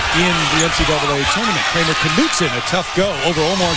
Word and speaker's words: Knutson: Sigma to Knutson. You pronounce the K.